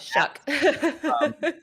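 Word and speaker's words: Shough: And it's actually pronounced Tyler Shuck. I don't know how you get Oh, that shuck.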